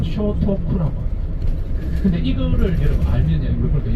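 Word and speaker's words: 聖徳: 이름 딱 근데 일본 발음은 쇼토쿠라고.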